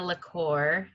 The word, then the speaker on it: LaCour: you pronounce it yeah i say like nina lacour like liquor and oh i don't